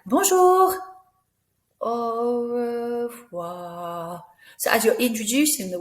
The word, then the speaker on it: au revoir: And au revoir, that R sound is rolled, if you can roll it. If not, it's au revoir, that's fine.